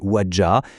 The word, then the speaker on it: Ouadja: Et à l'origine de ce manifeste, on trouve un homme, le docteur Alain Kossig-Bati Ouadja, prononcé Ouadja.